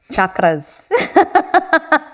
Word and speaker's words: chakras: do you pronounce it instead of sh it's ch like you would say cheese chakras and the beautiful thing